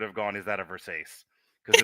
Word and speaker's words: Versace: Is it a verse? It's pronounced Versace.